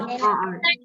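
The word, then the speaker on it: hour: Nana, it's R, Nana, it's not our, okay? You are our. No, R. H is silent, ma'am.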